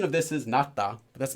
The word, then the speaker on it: 낫다: So pronunciation of this is 낫다, but that's not really that important because it's always conjugated.